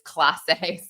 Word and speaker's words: Clase: But the indictment alleges that, and I'm sorry that I said it wrong. I said Clase, it's Clase.